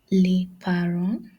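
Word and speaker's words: les parents: Learon liaron. Learon means parents. Learon. Remember in French you don't pronounce the last alphabet of the word in French.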